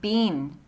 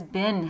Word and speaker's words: been: please remember b een is pronounced bean and everyone around you who says bin has bad pronunciation the coronavirus has been